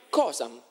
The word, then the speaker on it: causa: Oppure causa si diceva cosa. Infatti la parola cosa deriva da causa. D'accordo? Quindi non si diceva causam, si diceva cosam.